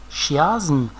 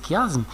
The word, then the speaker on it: chiasme: patience mme certain que personne ne prononce chiasse ans comme c'est pas juste c'est faux d'accord il faut prononcer chiasme mais s'il vous plaît